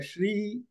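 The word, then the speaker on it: श्री: The Jai Shri Ram, the Shri is the same as Shankara, Shiva, that Sha. Okay. That is what is called Talavya Sha.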